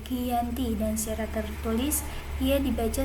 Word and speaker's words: Giyanti: lokasi penandatanganan perjanjian yakni di desa Janti dalam pelafalan Belanda ia tersebut sebagai Giyanti dan secara tertulis ia